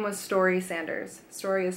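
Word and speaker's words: Storie: she called it sideways gravity her name was story Sanders story is spelled sto RIE she was a hiker drifter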